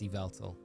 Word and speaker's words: Yveltal: That's how you pronounce it officially. It's Yveltal.